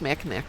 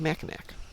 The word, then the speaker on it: Mackinac: I think it's Mackinac Island.